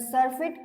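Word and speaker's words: surfeit: प्र्स कस करायच याला तर सर्फेट अस याचा प्रोनन्सशन आहे एस य आर एफ आयटी सफ सफ मिनिंग होत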